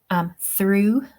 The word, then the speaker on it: through: Okay, through, the O-U-G-H is pronounced oo.